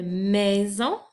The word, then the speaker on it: maison: Attention, dans le mot maison, j'entends le son Z et c'est un S puisqu'il est placé entre 2 voyelles, donc entre le I et le O.